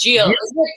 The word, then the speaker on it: Gilles: And how do you say her name? Teach me. Right. Gilles. It's Gilles. Is it French, isn't it?